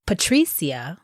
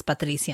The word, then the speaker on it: Patricia: But when I say Patricia, which is phonetically pronounced in English versus Patricia in Spanish, people don't chop it up.